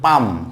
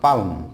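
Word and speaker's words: palm: এরপর হচ্ছে পাম, পাম, পাম মানে এই যে হাতের তালু পাম, তাহলে পাম নট পালম, পাম।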